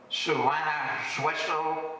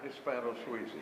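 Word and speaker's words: Hispano-Suiza: It was called a Suana-Sueso or some such thing. Does anyone know how to pronounce that? Hispano-Suizi. Hispano-Suizi, Dale just told me.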